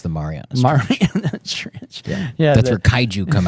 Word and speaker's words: Mariana Trench: Yeah, I like, because there's at the bottom of like the Ariana Trench. Is that how you pronounce it? I think it's the Mariana Trench.